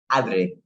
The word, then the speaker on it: Adri: And please excuse me if I mispronounced your name. Do you say it Adri? Adri.